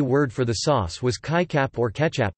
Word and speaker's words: kicap: The Malaysian Malay word for the sauce was kaichap or ketchup, pronounced k-chap.